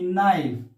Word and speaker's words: knife: k and i fee knife so here also we are not pronouncing k so here when the